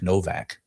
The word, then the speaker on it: Nowak: Uh the first one was uh a I guess a Polish kid uh named Henry Nowak Novak. Um but spelled like Nowak.